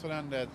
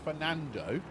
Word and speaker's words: Fernando: So Elias Fernandez, I get Elias' name wrong. Elias Fernando, there we go.